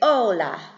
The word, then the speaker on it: hola: got was hola right remember that the H is silent so it's like it's not together so you just say hola okay name hola hola